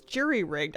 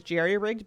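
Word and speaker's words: jury-rigged: I always thought the phrase was I I guess it's juryrigged. I always thought I was just mispronouncing it that it was jerryrigged because some guy named Jerry was really handy once upon a time.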